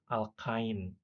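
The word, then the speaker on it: alkyne: Nah, kalau dalam bahasa Inggris ain ya, ine ain dibacanya itu alkain eh satu heptain gitu. Cuma kalau dalam bahasa Indonesia heptuna gitu.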